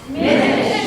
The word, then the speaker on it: Minich: Her name is Miss Minich. It rhymes with spinach.